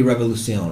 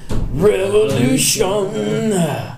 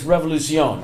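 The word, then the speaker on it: Revolución: It's going to be Revolucion, right? Okay. I mean, that's the correct pronunciation. Yeah. I think in the song, Sam does say Avenida Revolution, but it's Revolucion.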